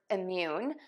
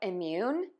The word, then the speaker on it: immune: We have immune, immunize, and immunity. So let's start with word number one. You are going to pronounce this word by stressing syllable two.